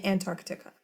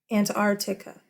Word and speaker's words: Antarctica: correct pronunciations this year most people don't say the sea in Antarctica most people say it are you listening and I can't even do it without it and our tikka Antartica and art tikka there is a sea you're like oh that sounds weird and to architec I see I like it that way because it makes it all like choppy it's Antarctica Antarctica and